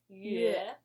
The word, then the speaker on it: Yue: And in these cases, they're pronounced as Yue, as in my name.